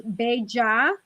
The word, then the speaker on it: bella: So So you know what's interesting, the double L in Spanish is yi, like a Y. So it's bella or or bellita.